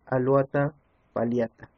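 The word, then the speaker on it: Alouatta palliata: pasan a escuchar su nombre científico científico es alata pata notan que la doble no se pronuncia como y sino como l otro claro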